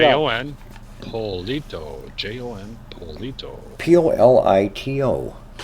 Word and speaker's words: Polito: Polito. Yep. Almost like Politico without the IC.